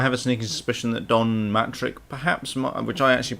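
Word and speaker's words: Don Mattrick: instance is I have a sneaky suspicion that Don matrick perhaps which I actually pronounced wrong last time it's not dtic it's Dom matrick um I have a sneaking suspicion he may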